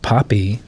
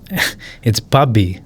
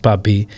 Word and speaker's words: Bhabi: It's not Poppy. I know what she's saying. It's Bobby, with its way of pronouncing something that's spelled BHABI, but it's pronounced Bobby.